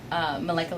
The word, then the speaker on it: Malika: I don't know how to say it. Everybody says it every different way, but it's Malika Linka.